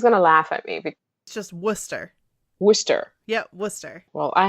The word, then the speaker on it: Worcester: it looks like worst worst Chester but it's Worcester okay well let's try this again or Worcester